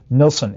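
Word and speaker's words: Heribert Nilsson: of macro evolution and then her uh I mispronounced uh Herbert nilsson's name earlier the Swedish guy it's Herbert h-e-r-i-b-e-r-t Nelson n-i-l-s-s-o-n those swedes often have too many letters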